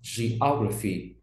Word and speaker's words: geography: Geography, môn địa lý, nhấn trọng âm vào O, geography.